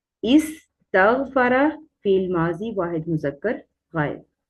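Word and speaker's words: استغفار: जाता है कि आप इस्तगफार करें, क्या कहा जाता है, इस्तगफार करें, तो ज्यादातर जो है वो अस्तगफार करें हम गलत बोल देते हैं, जो कि सही इसकी प्रोनाउंसिएशन है इस्तगफार करें।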